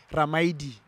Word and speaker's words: Ramaili: So Li, you pronounce it D. So Ramaidi.